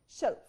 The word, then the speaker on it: shelf: اوكي طيب نقيس كده شلف هي لونج فاول ولا شورت فاول. شلف شلف شلف. So this is long vowel or short vowel. Shelf. Yes, this is short vowel. هي في الحالة دي الإي هنا short vowel. Vowel sound قصير مش طويل. Okay.